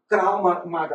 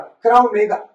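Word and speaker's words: Krav Maga: نہیں سکھایا جاتا بلکہ کراو ماگا، کراو میگا یہ ماگا نہیں ہے جس کا لفظی ترجمہ ہے کیا لفظی تلفظ Krav Mega ہے ٹھیک ہے یہ ایک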